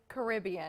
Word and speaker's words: Caribbean: this dress is very caribbean yeah to me caribbean not jeremy right how do you say it because it depends on where you put the amphasis on the syllable it just it just